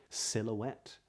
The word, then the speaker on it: silhouette: for native speakers now there are some H's which would be silent silhouette for example spaghetti at least in